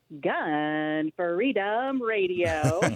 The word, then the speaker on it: Gun Freedom Radio: Because it is emphasis on Gun Freedom Radio, and you got it just right.